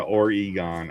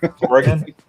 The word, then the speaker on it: Oregon: Terra or Egon. I have no idea how to say it. I'm not from there. So, Oregon, like the Oregon Trail.